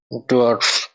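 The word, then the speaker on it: Dorf: এটার উচ্চারণ হবে ডে, ও, এর, এফ, ডোয়ার্ফ অর্থাৎ ভিলেজ বা গ্রাম।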